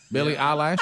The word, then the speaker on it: Billie Eilish: Because it's all like Billie Eilish. Is that the name? How you say it? Eyelash. Billie Eilish.